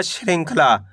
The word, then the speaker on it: श्रृंखला: श्रृंख ख ल में आ की मात्रा ल। तो मिलकर बन जाएगा श्रृंखला।